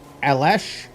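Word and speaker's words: Aleš: Alexi's name is pronounced Alesh.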